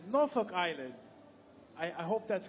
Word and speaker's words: Norfolk: I've been told it's like there's an apostrophe somewhere in there. And it gets a little bit shortened, so we pronounce it Norfolk Island.